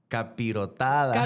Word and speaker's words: capirotada: garipotada capirotada We were both saying it wrong.